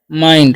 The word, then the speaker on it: mind: Okay, MIND है, तो इसे हम पढ़ते हैं माइंड।